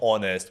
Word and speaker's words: honest: It's like, because for example, honest. Why do we put this H in front of?